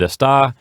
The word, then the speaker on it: está: Now keep in mind that the word esta has the accent on the first syllable, and está has the accent on the second syllable.